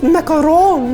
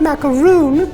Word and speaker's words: macaron: It's pronounced macaron, not macaroon, you silly.